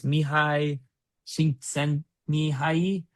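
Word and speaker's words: Mihaly Csikszentmihalyi: try to pronounce, or I could try to pronounce the name. It's Mihai Csikszentmihalyi, who wrote the famous book Wow.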